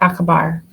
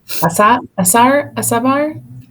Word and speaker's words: acabar: Yeah, the C is always like k in C, Okay. but with the exception when it goes with E or I.